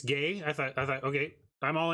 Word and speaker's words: Guay: It's gay. I thought, okay, I'm all in for pronouncing people's names correctly. So if it's Rebecca Gay, I will stop pronouncing the U.